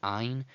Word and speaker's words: ayin: That's how we will review the aleph and the ayin as silent letters. Those are the two silent letters in the Hebrew alphabet, aleph and ayin.